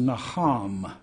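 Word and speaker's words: נחם: The word repent is the word in the Hebrew which is pronounced naham.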